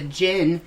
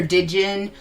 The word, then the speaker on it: jinn: the jinn, I call believe it it's jinn. jinn. Yeah. Jinn or Dijin, it depends. Yeah. It's Romanized as the jinn, Dijin. Yeah, The D is silent.